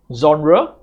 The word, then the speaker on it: genre: And then next, we have genre. So, this g e here is pronounced with the z sound. Genre, not gen-re, gen-re is not correct.